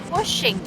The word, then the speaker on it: pushing: Pushing. Bukan pusing ya. Bukan pusing. Kalau pusing nggak ada hanya, tapi ini pakainya nggak jadi push. Pushing.